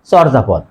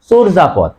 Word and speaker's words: চর্যাপদ: আমরা অনেকে উচ্চারণ করি চর্যাপদ বাংলা সাহিত্যে প্রাচীন নিদর্শনের নাম কি অনেকেই বলে চর্যাপদ আসলে সঠিক উচ্চারণ চর্যাপদ হবে না হবে চর্জাপদ এই রেফ এর আগের